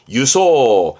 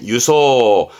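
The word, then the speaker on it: 輸送: 수송 나르는 수송 발음은 유소 있지마 유입니다 유소 수소 아니 유입니다 잊지 마요 한 번 더 유소 앞에 글자는요 다음에 할게요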